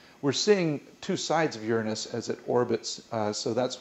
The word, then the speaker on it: Uranus: and Neptune and by the way the correct pronunciation is Uranus these are very different planets they aren't rocky